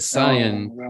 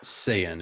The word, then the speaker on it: Saiyan: are we're reverend well i said cyan yesterday when when we were talking about zach corrected me it's it's saiyan at least in america it's pronounced i